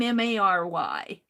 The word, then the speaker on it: Meri: it spells my name m-a-r-y but at least the guy when I listen to it at least they're pronouncing Atelier and they say Mary when I listen to the intro but it's really m-e-r-i I don't know if